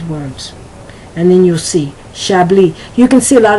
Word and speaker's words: Chablis: They do not realize that that word, such as Chablis, it's not Chablis, it's Chablis, is pronounced with more of the SH sound. So let me give you some of these words, and then you'll see. Chablis.